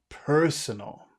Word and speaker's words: personal: that mean that means so we've got two reasons to make this e extra long one it's the accented syllable but two it finishes with that r and when you have the the sounds that you eat the vowel becomes longer personal yeah is it